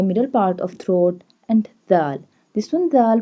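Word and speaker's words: د: And dal. This one dal pronounced softly. This one dal pronounced by tip of the tongue touching the inner edges of the top two front teeth.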